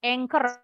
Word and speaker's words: Anchor: Banyak yang kotak anchor contohnya. Tulisannya ancur. Bacanya nggak boleh ancur ya.